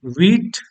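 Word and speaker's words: wheat: ध्यान रखना इसका प्रोनाउंसिएशन वीट नहीं होगा, वीट नहीं बोलेंगे, ओके। ये गलत है, इसको सही प्रोनाउंस करेंगे ऐसे, वीट। वीट मीन्स गेहूं।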